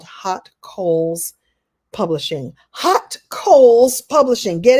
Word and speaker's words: Haute Coles: I have my own publishing imprint called Hot Coals Publishing. Hot Coals Publishing. Get it? But it's really cool because it's spelled real different.